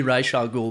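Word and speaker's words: Ra's al Ghul: which I agree with his pronunciation should be Raa Gul because that's how it was in the Animated Series AR games yeah that's it it's always been R not Ras yeah that's right but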